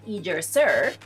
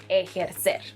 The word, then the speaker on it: ejercer: Another verb is, no, this is not pronounced ejercer or ejercer. It's pronounced ejercer, and it means to exercise.